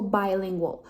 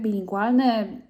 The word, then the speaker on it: bilingual: też na polski powiedzieć po angielsku czyta się jako bilingual by czyli nie tak jak my mówimy tak bilingual dwujęzyczny tak w wielu językach też by się powiedziało przez b taking bla bla bla tylko w języku angielskim czyta się to przez i tak tak samo jak słówko na przykład kupować tak by i Zmierzam do tego